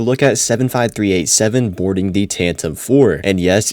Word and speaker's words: Tantive: Today we're going to be taking a look at 75387 boarding the Tantive IV. And yes, it's pronounced Tantive, not Tantive E.